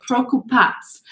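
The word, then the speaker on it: Prokupac: this is the grape prokupats or prokupats um this c at the end is pronounced like a t z so procupats is um is how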